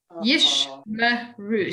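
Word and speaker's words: ישמרו: Yishmeru. So the first one is the closing of a syllable, and the second one is the opening of a syllable.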